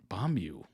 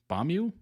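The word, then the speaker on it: Beomgyu: It's pronounced Bomb Bombu. Bombu.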